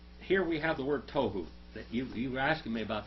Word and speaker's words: tohu: See that tohu there? That's it, tohu. This word right here. That's the word right there, tohu. Tohu. That's how you say it, tohu.